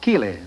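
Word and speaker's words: Keighley: ancestors came from the English town of Kiley k-we l e y no spelled like my own name k-e-i-g-h-l-e-y I understand Marguerite you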